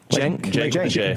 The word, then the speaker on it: Cenk: Cenk like Janky. That's how you say it?